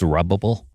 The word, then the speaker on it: Zerubbabel: I just like saying Zerubbabel. Zerubbabel. Yeah. Is that how you pronounce Jehoshid? It's usually pronounced Zorabel. What? It's usually pronounced Zerubbable.